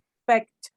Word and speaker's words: spect: Spect. No. Don't say expect. Say spect. Inspection.